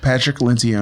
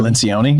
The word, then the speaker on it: Patrick Lencioni: Patrick Lencioni. Lencioni?